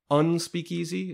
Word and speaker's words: Unspeakeasy: So I'm looking at some of the information here about Unspeakeasy. Is that how you pronounce it? The Unspeakeasy, yes.